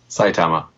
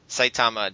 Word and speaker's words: Saitama: you say the name of that city eric saitama saitama japan today on february 19th 2012.